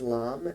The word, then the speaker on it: LAM: The Bija mantra, the single syllable mantra for the root chakra is LAM, L-A-M.